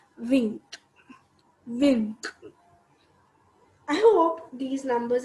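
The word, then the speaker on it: vingt: is 20 which is written as v i n gt which is wink wink i hope these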